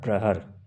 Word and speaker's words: प्रहर: इसको प्रहर कहते, बोलचाल की भाषा में, हिंदी में शुद्ध प्रोनाउंसिएशन होता है प्रहर।